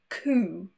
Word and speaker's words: coup: Two random words that have a silent P are receipt, no P, receipt, and also a coup.